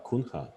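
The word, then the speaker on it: Cunha: Dilip Da Kuna, is that the way how to pronounce that? Kunha.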